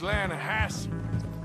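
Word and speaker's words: Lannahechee: it runs right near here yeah but it's pronounced Lana Hass why is everything in English said differently than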